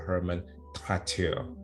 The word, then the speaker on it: Hermann Traitteur: Hermann Traitteur.